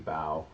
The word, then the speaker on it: Baugh: I studied with Casey Baugh, or Casey Bao, if you don't know how to pronounce his name like I didn't, in October in New York for a week.